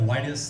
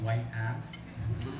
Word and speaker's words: Whitus: Like back in middle school, instead of Whitus, they used to call me White Ass.